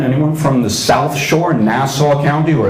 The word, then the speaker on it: Nassau: from the South Shore Nassau County or as it's pronounced nauseous County because of the accent we hear himself a